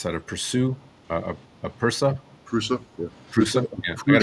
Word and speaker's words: Prusa: Yeah, I got a how do you pronounce that? A Pursue, a Pursa. Prusa, yeah.